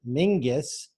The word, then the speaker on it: Menzies: age of 14 Mingus pronounced Mingus it's actually spelled Menzies that's why this could